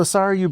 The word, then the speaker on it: Sarayu: Sorry you? I'm like, yes, sorry you.